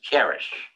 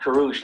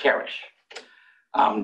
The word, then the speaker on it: Karush: And by the way, the proper pronunciation is Karish, not Karush, not something else, it's Karish.